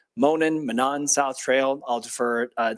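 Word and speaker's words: Monon: Uh, so the Manan Monan, I've heard it pronounced a few different ways. We're going to go with Manan here, folks.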